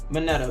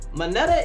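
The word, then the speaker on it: Mineta: to beat the s but nevertheless it's possible moneta moneta is okay how to say this minetta is good i've seen i seen him do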